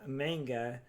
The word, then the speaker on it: manga: I'll read the manga and I'll get caught up. Speaking of manga, or manga actually is the right pronunciation.